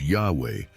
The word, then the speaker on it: Yahweh: However, in biblical times, the name was known and pronounced as Yahweh, or as revealed to us, "I am who sent me to you."